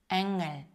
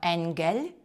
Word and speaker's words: Angel: Angel ми не кажемо angль. Angel. Так, ґ не вимовляється.